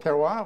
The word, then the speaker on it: terroir: Terroir, is that how you say it? Terroir, oui.